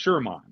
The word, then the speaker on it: Sermon: that for copyright purposes his name is not spelled like the typical Sherman it's sure like a like a sir guitar m-o-n sermon but it's pronounced Sherman and you know he